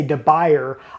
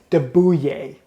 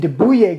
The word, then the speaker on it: de Buyer: a French company, and although just reading the name you might want to say De Buyer, I believe the correct pronunciation, and forgive me if I butcher it, is De Bouillet.